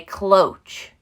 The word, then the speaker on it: cloche: are selling like crazy this is called a cloche now i looked this up even looked up